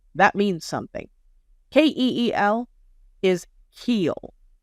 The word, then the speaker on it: Keel: he pronounces ke as kill and is trying to spin the narrative like that means something ke e l is Keel like Keel Hall not kill Keel there is a difference words matter facts matter